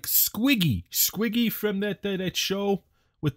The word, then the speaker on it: Squeeg: Squig, squig. Gotta swallow the E's in that one. Squig, squig. You gotta push them out.